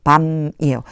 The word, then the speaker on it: balm: L이 소리가 안 나요. 그래서 밤이에요.